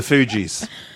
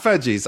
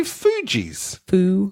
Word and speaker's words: Fugees: No, it's not Fudgies. I know that much for certain. But I'm pretty sure it might be Fugees.